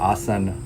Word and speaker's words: asana: dharma for dharma, or karm for karma, or yog for yoga, or asan for asana. A little bit of interesting knowledge: when you're actually speaking, when we speak Hindi or Sanskrit, we don't actually pronounce the A.